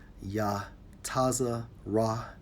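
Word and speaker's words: יצר: or I formed in the Hebrew strong H 33:35 pronounces yah tazza rah let's get to the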